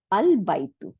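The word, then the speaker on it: البيت: যেমন আল বাইতু, আল বাইতুর আগে কোনো কিছু নাই, তাই না? তাই আমাদের এই হামজাতুল ওয়াসলটাকে উচ্চারণে আনতে হইল। The house is pronounced al baitu, and এখন যদি ওয়াও জবর, ওয়াও মানে এবং, তাই না?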